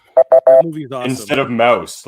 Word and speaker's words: Maus: But Mouse is spelled M-A-U-S.